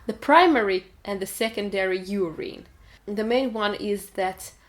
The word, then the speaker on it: urine: То есть буква Ю читается как в алфавите, как в открытом слоге. Urine. Или urine. Звук там ускользающий, то ли он есть, то ли его нет. Urine or urine, something like that.